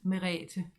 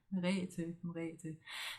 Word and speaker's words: Merete: I experienced that quite a bit, but it's pronounced Merete in short. Merete.